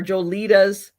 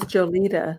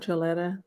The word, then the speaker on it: Jolita: of joletta's uh or jolitas t-shirts I'm gonna I'm gonna say it right how is jolita not gioletta I always say well